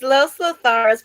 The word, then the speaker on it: Los Lotharios: It's Los Lotharios, but now they're just going by Angel Garza and Humberto Carrillo. They're not even calling them Los Lotharios anymore.